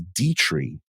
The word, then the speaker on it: Dietrich: This is from now they corrected me on how it is pronounced. It is Dietrich.